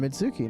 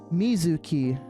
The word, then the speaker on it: Mizuki: It's It keeps saying me. It's Mizuki in the Japanese in the Japanese.